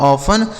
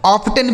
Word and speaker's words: often: देखिए यहाँ पर जो दोस्तों टी लिखा गया ना साइलेंट है, इसको नहीं पढ़ा जाएगा। ऑफ्टन बिल्कुल नहीं पढ़ेंगे, गलत उच्चारण हो जाएगा। इसे आपको ऑफन पढ़ना है।